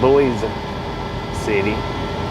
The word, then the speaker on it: Boise City: all right well I say Boise city but apparently the correct pronunciation is boys City Oklahoma 45 minute ads the